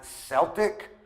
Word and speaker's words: Celtic: were more afraid so even though you can pronounce the Celtic civilization as Celtic it's not as common except for the Boston Celtics the next one is